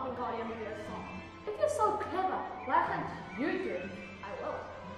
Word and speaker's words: Wingardium Leviosa: It's Wingardium Leviosa, not Wingardium Leviosa.